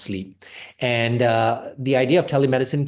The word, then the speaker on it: Sliip: So the practice name is Sleep, spelled SLIIP, but it's pronounced sleep.